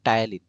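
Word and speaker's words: ptyalin: Salivary enzyme দেখো maltase এবং টায়ালিন, mainly টায়ালিন লিখবা। ঠিক আছে, দেখো পি, টায়ালিন বানানটা খেয়াল করো, পি দিয়ে স্টার্ট, টায়ালিন আর হচ্ছে মল্টেজ।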